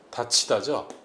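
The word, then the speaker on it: 닫히다: 자, 이게 왜 다치다가 되냐면은 다 플러스 히 다 이렇게 하면은 디귿이 히읗을 만나서 뭐로 바뀝니까? 티읕으로 바뀌죠. 그죠? 그래서 다 티다가 됩니다. 다 티다인데 다 티다라고 발음 안 하죠. 왜? 티읕이 이를 만나면 뭐로 바뀝니까? 치읕으로 바뀌는 국외음화가 일어나죠. 국외음화 때문에 다시 이게 다치다로 바뀌는 겁니다.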